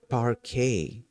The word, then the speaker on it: parquet: Uh the T the T at the end is silent.